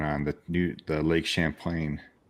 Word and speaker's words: Champlain: the new the Lake Champlain ah you said it right I wasn't I kept saying Lake Chaplin I wanted to say